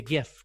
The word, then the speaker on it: GIF: I say GIF because the person that made GIFs named it GIF. So I say GIF.